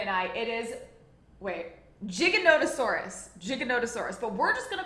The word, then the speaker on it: Giganotosaurus: terrifying and I believe the correct the correct pronunciation for it we googled it before this Andre and I it is wait Giganotosaurus Giganotosaurus but we're just going to call it